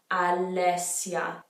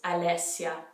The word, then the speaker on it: Alessia: name that's popular so alessia we have a double s so you got to hold it make sure you're pronouncing all those vowels alessia some other ones are